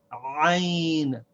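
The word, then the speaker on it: عين: it here in red the name is iene and we have it with an apostrophe and a now sometimes we might mistake this pronunciation for the pronunciation of the Aleph the Iliff is ah this is aa the way that we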